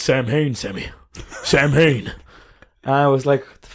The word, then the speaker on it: Samhain: And I remember watching the episode, and he was like, "Oh, it's Sam Hain, Sammy.